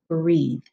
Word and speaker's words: breathe: happening in this word that E is silent on the end and this one says E so that's how we get the word breathe so you might have